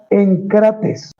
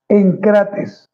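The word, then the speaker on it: ἐγκρατής: una palabra griega llamada encrates con K. Encrates no lleva tilde, pero sí acento.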